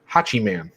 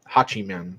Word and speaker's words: Hachiman: got tyler rust and i believe it's pronounced hachiman is sort of like hatchet man but but hachiman type of thing is is suzuki's